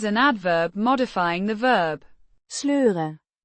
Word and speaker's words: sleur: Sleuren. To drag. Pronounced. Sleur. With the E. sounds similar to the oi in boy, but shorter.